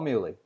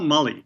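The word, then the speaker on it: Mullie: Is it Paul Mully or Paul Muley? It's Paul Mully. Paul Mully. Paul, I'm very sorry. But everybody says Muley, so I'm sure he's used to it by now.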